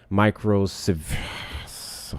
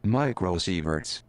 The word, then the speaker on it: microsieverts: whole year, which typically contributes less than 0.1 microsieverts. Hard word, y'all. Fuck it. I'm going to find out how to pronounce this.